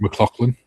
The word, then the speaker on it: MacLachlan: The young man that played in Dune, Kyle MacLachlan, I can't pronounce his last name. McLaughlin?